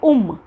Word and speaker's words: ओम: था, बट ओम है, लेकिन इसे हम प्रोनाउंसिएशन में बोलेंगे उम, ऊ। ओके, ऊंचा वाला होता है ना, ऊ, ऊपर ऊंचा, वो वाला ओम, ओम, ओम।